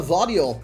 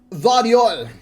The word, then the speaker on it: Gvardiol: get yourself a mr vario i hope you pronounce his name vario otherwise i'm a bit of an idiot i reckon that's a silent g i reckon it's a